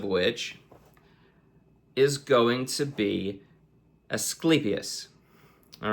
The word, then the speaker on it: Asclepius: But to the Greeks, before Hippocrates, there was Asclepius, right? And that is the correct pronunciation, Asclepius, right?